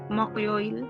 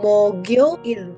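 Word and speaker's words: 목요일: Terus habis itu yang 13 mokyoil. Nah, ini gimana nih? Ya kan berarti G-nya ke samping mogioil.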